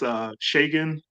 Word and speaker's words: Shagun: listing, and then Shagun, Oh, so it's pronounced Shagan. Like Shagan, yeah, and then Shagan.